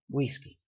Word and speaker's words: güisqui: Güisqui. And yeah, most people wouldn't pronounce the G there, but that is for the other video.